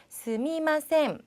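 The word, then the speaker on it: すみません: 거기다가 발음하실 때는 스미마셈 이렇게 하셔도 되지만 조금 나는 빨리 얘기하고 싶고 마 이런 발음이 잘 안 돼요 라는 분은 스이마셈이라고도 발음하셔도 괜찮습니다.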